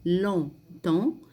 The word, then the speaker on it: longtemps: Quand tu regardes trop longtemps, ici la dernière partie, quand tu regardes trop longtemps, je ne prononce pas le PS, trop longtemps, un écran, voilà l'écran,